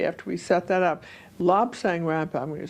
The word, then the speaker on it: Lobsang Rampa: You did say Lob Sang Rampa. I got it backwards. Yes, that's what I was wondering. Lob Sang Rampa, okay.